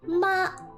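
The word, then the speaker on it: 妈: example for example while the first tone ma means mother this Ma means numb so you see how the tone is different when you have to deal with different pronunciation so first tone ma mother first tone ma ma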